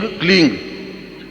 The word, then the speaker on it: क्लीं: उस ऐं ह्रीं क्लीं, देखिए अब आपकी इसकी उच्चारण ध्वनि, एंग, रींग, क्लींग। मैं ग की ध्वनि के साथ उसकी बात बता रहा हूं।